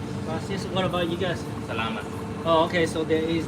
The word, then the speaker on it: Salamat: Salamat.